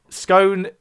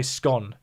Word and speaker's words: scone: all from but uh scone is a word that's pronounced differently in different parts of the UK and no one seems to be able to agree on how you say it some people say scone but I say scone um Roy Alex is